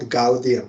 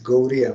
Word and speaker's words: Gaudiya: Because Gaura is Bengal, that D with, it is not Gaudiya Mat, it is Gauriya Mat. That D with dot on down, so that is softer, Gauriya, like Orissa.